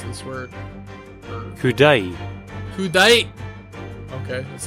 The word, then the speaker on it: coup d'oeil: Okay, also, how do I pronounce this word? Kudai.